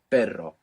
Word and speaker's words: perro: But you pass a little bit of air over it and you let that flick it. Perro.